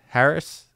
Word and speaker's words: Harris: really really impressive and this is Harry's Harris it's Harry's on here it's spelled h a r r i s so